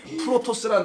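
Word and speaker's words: πρῶτος: 프로토스란 단어예요. 이게 아까 첫 번째 거과 나중 거. 시작과 끝. 이런 단어 쓸 때 프로토스예요. 자, 요 단어 쓰는 건데 프로토스. 이게 프로토스. 비슷하죠? first. 발음이.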